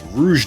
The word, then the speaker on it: Rouge: beton Pat gimmick puppet Rogue doll uh Moon of the closed Heaven actually I just realized that's Rouge doll I've been saying it wrong the entire time ragnara Seline Snapper light